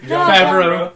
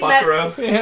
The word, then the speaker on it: Favreau: John Fuck. No, Favreau. Favreau, yeah. John I keep, Fuckrow.